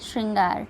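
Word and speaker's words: शृंगार: तो हमारा यहाँ पे आंसर क्या हो जाएगा, ऑप्शन सी श्रृंगार, ठीक है। इसमें ये त्र वाला र नहीं लगता है, केवल श्र रहता है, ठीक है।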